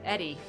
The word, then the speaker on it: Edie: Eddie. I keep saying Edie. I think she pronounces it Eddie.